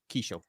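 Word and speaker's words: Qhaysh: It's Kishel, and I have that written down somewhere. It's spelled with a Q. But yeah, Kishel.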